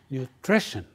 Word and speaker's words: nutrition: into three parts NRI but when you say the word you stress the word the part three so you say nutrition nutrition nutrition right the word nutrition